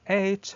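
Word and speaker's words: ate: and by the way h has the same pronunciation of the number eight okay that's not uh who uh maps the past form of the verb eat not as if it comes so eight the number and eight the past form of verb eat are the same okay now now let's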